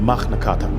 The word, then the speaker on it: Magna Carta: the magnata or as it's pronounced in Latin the magnata is the great Charter